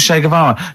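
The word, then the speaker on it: Che Guevara: Shavara who was Shayavara just just uh now you learned to pronounce it right.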